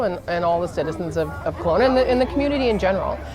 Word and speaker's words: Kelowna: Kelowna. Kelowna.